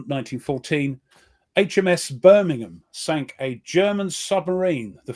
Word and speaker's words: Birmingham: Not Birmingham. It's not two syllables. Two separate. Birmingham. Birmingham. Yeah, we run it together, you see.